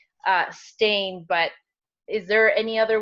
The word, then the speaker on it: Stein: I would go with Stein okay stain is a very common way that people pronounce it but it's time Stein perfect thank you so